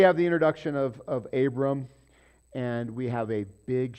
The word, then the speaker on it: Abram: Okay, so Abram, we're going to pause there because he's the important guy. And again, there's no dot in there, so you might pronounce it Avram.